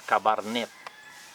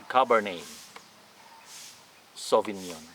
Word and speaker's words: Cabernet Sauvignon: the last end so you don't need to pronounce the letter t all right not cabarnet it should be cabernet sauvignon right i don't have